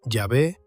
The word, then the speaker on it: Yahvé: Las cuatro consonantes yod, he, vav, he, que tradicionalmente se pronuncian como Yahvé o Jehová y en la mayoría de las traducciones se sustituyen por el título Señor.